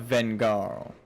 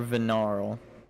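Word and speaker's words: Vengarl: hard of Jugo and head of vengar or venar depending on how he pronounces it the g is silent onward my friends we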